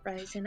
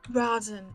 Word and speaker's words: Rosin: just so you know my last name is pronounced ros and not rosen i understand it's confusing rosin sorry it's a common mistake considering stale like violin exactly like violin in fact um and